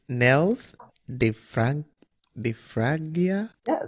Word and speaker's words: Niels: to give it a try you know it's nells they frank the fragia yeah so nils what